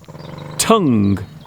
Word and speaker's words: tongue: It's not thong, it's tongue.